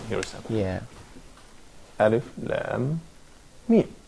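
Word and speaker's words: لام: This probably could be a regular rule for the Arabic alphabets, because here, the alphabet lam is written, and it's not pronounced la, it's pronounced as Yeah. as lam, Yeah. as a letter.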